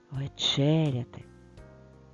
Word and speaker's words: вечеряти: в зошиті поставимо наголос вечеряти вечеряти наголос над звуком е і буквою е в другому складі А тепер слово вечір